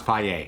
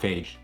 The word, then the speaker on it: Fage: F non-fat Greek yogurt it's pronounce PA not Fage so guys before you